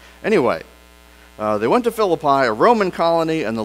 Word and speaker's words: Philippi: from there we traveled to Philip I or if you're from West Virginia I know there's an alternate pronunciation for that Philippi is that right anyway they went to fill apply a Roman colony and